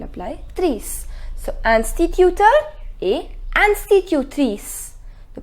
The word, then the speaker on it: institutrice: So, instituteur et institutrice. The pronunciation is institutrice.